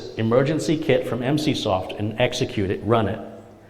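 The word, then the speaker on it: Emsisoft: spelled e m SI i s o ft MC soft is how it's pronounced next question is um a lot of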